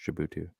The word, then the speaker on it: Djibouti: I believe it's pronounced Djibouti.